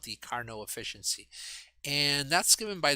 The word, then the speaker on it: Carnot: meaning efficiency and c carnot carno uh carno there's the name there it's a french name so you don't pronounce the final t uh that was just